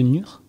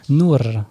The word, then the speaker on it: Nour: Et on peut te retrouver sur ta page Le Monde de Nur. C'est comme ça que tu le prononces ? Nour, pardon.